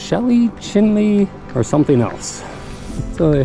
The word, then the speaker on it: Chelly: at some point so we asked and is pronounced chinley Canyon Del chinley chinley so the park ranger said in the